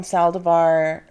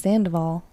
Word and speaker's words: Sandoval: I mean, he has a successful business now with Tom Saldivar. Did I say his name right? No. What the fuck did I say? Saldivar. It's Sandoval.